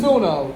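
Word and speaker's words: Suno: we get to the video so this is sunno it's spelled s u n o so you might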